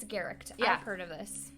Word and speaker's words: Garecht: Michaela Garecht, I think the last name is pronounced Garecht. Okay, I've heard, it's Garecht.